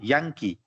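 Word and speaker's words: Yankee: है सिएरा ठीक है वाय वाई को कुछ लोग ंकी पढ़ते हैं तो उसको पढ़ने का सही तरीका है ंग की थोड़ा सा गले में इसको होल्ड करेंगे एज अ जी यंकी how ever if यू से यंकी this is okay so basically you नीड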